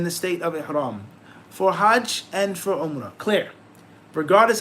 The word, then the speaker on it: hajj: he says the word hajj linguistically means and obviously he talks about the pronunciation of it hajj with a fatah hajj lingus intention objective something